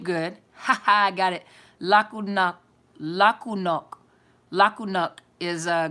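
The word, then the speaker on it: laku noć: it down okay so la ku knock did I pronounce it right la ku knock say la ku no that's good night in croatian okay super croatian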